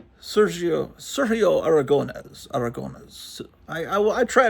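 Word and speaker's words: Aragonés: Sergio Sergio Aragon. Aragon. I I I try to I as a kid I was calling him Sergio Aragon but no I try to pronounce it properly.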